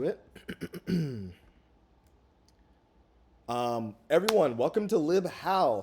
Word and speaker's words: libhal: welcome to lib how say goodbye to lib embedded howe that three syllable lib embedded so embedded that's three more how sounds like five syllables welcome to lib how two syllables easy short to the point um why the